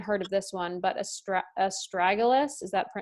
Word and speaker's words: astragalus: And the list includes, never even heard of this one, but astragalus, is that how you pronounce it? Yes, astragalus.